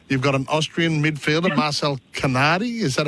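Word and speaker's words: Marcel Canadi: Yeah, you do have a press conference a little later on this morning, and you've got an Austrian midfielder, Marcel Canardi. Is that how I pronounce it?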